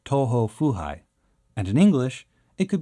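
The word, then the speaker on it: 東方不敗: In Japanese, the character's name is pronounced Toho Fuhai, and in English, it could be translated as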